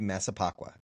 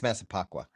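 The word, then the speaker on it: Massapequa: Am I That would be That would be Masipacqua. Masa Never mind. I I just mispronounced it as well. I think it's Masipacqua.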